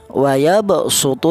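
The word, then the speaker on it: ويبصط: Shod dan sin sama-sama di sofir, tapi ini cara bacanya wayabsutu yang huruf shod ini dibaca dengan huruf sin. Wayabsutu bukan wayabsutu, bukan.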